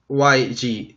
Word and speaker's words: YG: Ajá, se pronuncia en inglés. YG.